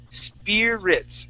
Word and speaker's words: spirits: want to uh um instead of saying speeds okay we're going to use a spear Spirits spirits try that okay Spirits